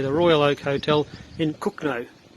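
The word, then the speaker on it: Cogenhoe: i should say the royal oak hotel in cook no it's built kogan ho c-o-g-e-n-h-o-e but it's pronounced cook name pubs closed until the fourth of july like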